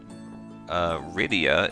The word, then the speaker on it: Rydia: Ryda. Not Rydia? No, Ryda. I mean, you could do it. Rydia. How do you pronounce... Rydia is pronounced the same as Lydia.